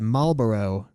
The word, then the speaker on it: Malboro: one from ff8 the Malboro which he WR Maro which is weird because used to pronounce it that way too but it is Malboro Marboro is a cigarette make that distinction from